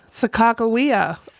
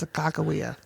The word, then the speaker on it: Sacagawea: Sacagawea, or as Sacagawea. I was taught in high school, Sacagawea. That is incorrect. Sacagawea was how I was taught in high school, Yeah.